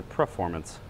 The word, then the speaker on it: performance: looking for this for do you guys say preformance or performance I always say per I always say it more like preformance performance instead of performance so it always makes